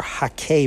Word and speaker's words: hake: So first and foremost would be the Ron Ranson Hake or Hake brush, as it's properly pronounced, so no one yells at me.